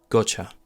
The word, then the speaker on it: gotcha: together now together so got you got you with a schwa sound gotcha the third example I'd like